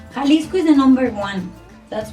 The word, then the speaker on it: Jalisco: okay and it's as you said it right kalisco is the number one that's why the most